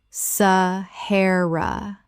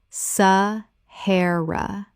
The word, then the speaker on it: Sahara: Sahara. Correct pronunciation. Sahara. 3 syllables with the stress on the second.